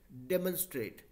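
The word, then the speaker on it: demonstrate: दीजिएगा तो यहां पर देखिए एम ओ एन को मां नहीं बोला डेमोंस्ट्रेट डेमोंस्ट्रेट डेमोंस्ट्रेट ठीक है तो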